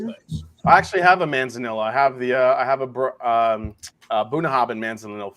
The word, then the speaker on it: Manzanilla: Manzilla. Or Manzilla, how you pronounce Oh, it? Manzanilla.